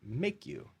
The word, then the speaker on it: Maku: So anyways, it turns out Maku, M-A-K-U, is Hawaiian for risk. And so we said, well, what if we put a line over the A and we pronounce it make you?